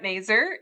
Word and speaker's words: Mazur: My name is Maer. It rhymes with laser.